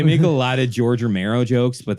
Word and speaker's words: Romero: a lot of george romero jokes but they never pronounce his last name right they keep saying like oh this is like one of those george romeo movies huh so it's a lot